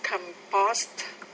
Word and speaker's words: compost: to be used as compost good what problems with the word composed stress on the first syllable there for du to